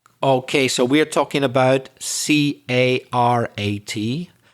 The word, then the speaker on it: carat: what's the connection of carrot to gemstones okay so we're talking about c a r a t but it's pronounced carrot the same pronunciation as the vegetable but different spelling and this carrot is